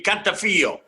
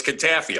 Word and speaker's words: Cantafio: if we were in Italy it would be cafo but we're in Chicago so it's kfo all right there there we go so you're